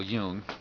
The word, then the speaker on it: Jung: with the collective subconscious as carl young would term it carl jung his pronunciation and he's done a